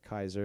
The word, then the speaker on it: Caesar: He owes the Caesar or Kaiser as it's properly pronounced.